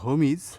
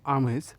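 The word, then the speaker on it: homage: হোমিজ এইচ ও এম এজিই উচ্চারণ হোমিজ বা আমেজ।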